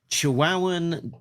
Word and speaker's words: Chihuahuan: Uh it's like the the dog uh the Chihuahua uh Chihuahua.